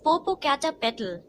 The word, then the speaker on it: Popocatepetl: how to pronounce it it is Popocatepetl for poor cat pet fur when it is not